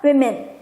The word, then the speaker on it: women: Lebih dari satu atau wanita-wanita, women. Kan ini O dibacanya women. I.